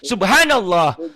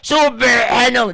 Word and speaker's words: subhanallah: Subhanallah. Jangan subhanallah, jangan ditekan, Pak. Nggak ada hubungan dengan napas. Justru Bapak dengan trik cara baca Bapak yang keselak. Nggak boleh. Subhanallah. Coba Bapak bilang subhanallah. Subhanallah. Gitu aja.